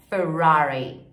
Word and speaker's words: Ferrari: Mercedes Mercedes e Ferrari essa palavra é difícil porque a gente tem dois desses RS de porta né então é Fury Lamborghini e inglês Lamborghini